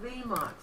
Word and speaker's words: Vmox: It's pronounced Vmox. I was butchering the name.